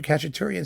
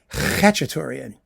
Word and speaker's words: Khachaturian: I pronounced his name Khachaturian. Why? Because it began with a KH. And actually you know, it had guttural suggestions.